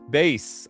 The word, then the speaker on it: Bass: The power pronounced bass like in music, not the fish. Oh, okay. Well, you had to, you know, I had to frontload that one for me. I didn't know. Base.